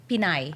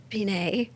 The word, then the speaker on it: Pinay: It's p i n a y. So, that's a short name for Filipina or Filipino. It's Pinoy for for guys and Pinay for ladies.